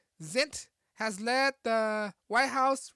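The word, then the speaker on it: Zients: white house coronavirus coordinator high pronounced guy zint has led the white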